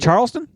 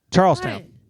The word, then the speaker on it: Charlestown: Charlestown no you did you didn't say it Charlestown you said Charleston Charleston it's not it's Charles Town there's Charleston West Virginia is it spelled the same no no t n versus T WN Charles Town is here